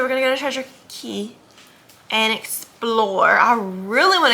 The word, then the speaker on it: Cay: Yesterday, Treasure Cay, excuse me. They spell it like K, but they say it like key.